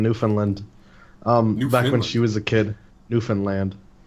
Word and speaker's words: Newfoundland: she was a kid, Newfoundland. Yeah, you gotta fucking say it like that for you.